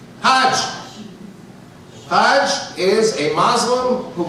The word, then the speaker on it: Hajj: And in Egyptian Arabic, it's pronounced a little differently. Instead of Hajj, the J becomes a G. In Egyptian Arabic, it's Hag.